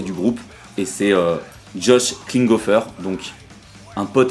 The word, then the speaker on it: Klinghoffer: complètement bas qui est cet homme c'est josh klinghoffer voilà j'ai réussi à dire son nom pour la première fois depuis dix ans je le prononce c'est c'est josh klinghoffer moi je les ai connus via les red